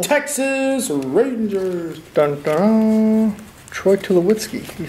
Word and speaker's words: Tulowitzki: Troy Tulowitzki, you say. That's, I think, how you pronounce it.